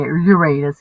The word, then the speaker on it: Uranus: Yeah, Uranus, get real. It's in your ass. It's the only way I ever remembered how to say it.